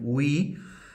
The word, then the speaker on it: vi: Por lo tanto, esta raíz vi, o en su correcta pronunciación ui, va a permanecer igual en todos los casos.